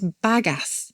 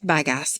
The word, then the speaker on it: bagasse: Oh my It's not gosh. badass, but it's bagass. Is it French? Bagasse? Is it French? It does sound like it should be Bagasse.